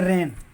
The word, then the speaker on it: reign: जैसे रेन, REIGN, रेन माने शासन करना, साइन, SIGN, जब जी के तुरंत बाद यन आए तो जी का वहाँ पर उच्चारण नहीं करते, परंतु यन पर ही शब्द पूर्ण होना चाहिए।